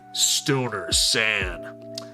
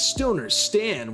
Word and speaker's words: Stoner Stan: Welcome in, Stoner San. I already said your name wrong. It's Stoner Stan 101.